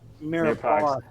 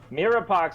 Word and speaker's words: mirepoix: A mix of mirepoix, which is a mirepoix, which is a mix of Mirepoix. It's Mirepoix. I've never seen it before, but apparently. How do you say it? Mirepoix. It's French. It's like Mirepoix.